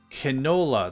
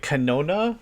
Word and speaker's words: canola: Canola. There's an L in it. Canola. There's an L in it. And I was just like, canona? Why? Why no canona press?